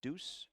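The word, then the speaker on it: Dhus: delivered by aj deuce spells his last name d-h-u-s pronounced deuce out of san diego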